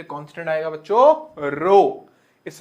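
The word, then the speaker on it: rho: का चिन्ह हटाएंगे तो एक कांस्टेंट आएगा बच्चों रो इस रो को हम बोलते हैं रो सिंबल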